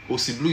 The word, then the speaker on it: Ossy Bleu: Ossy Bleu is spelled OSSYBLEU. I'll take it again. OSSYBLEU. Blue is spelled the French way, not the English way.